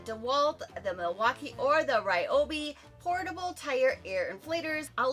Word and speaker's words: Ryobi: That's how you pronounce it Ryobi.